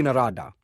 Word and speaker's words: Narada: You wrote Shri Narada instead of Shri Narada. It's a long I in Shri, not a short I, a small thing.